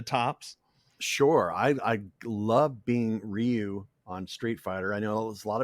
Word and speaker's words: Ryu: gave me the role, they said, at Capcom, they said, okay, it's pronounced Ryu.